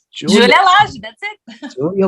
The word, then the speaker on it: Lage: Julia Lage, that's it. Julia Lage.